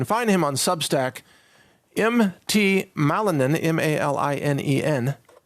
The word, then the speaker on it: Malinen: Malinen, M-A-L-I-N-E-N, or you could think of it as Ma-Linen.